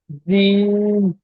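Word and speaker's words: ج: জিম নয়, জিম বললে আমাদের জিবের, জিবের আগাটা উপরে এই তালুর সাথে যাচ্ছে, জিম উচ্চারণ হচ্ছে। জিবের, জিবের যে মাঝখানটা, বুঝতে পারছেন, উপরে তালুর সঙ্গে মিলে যাবেন।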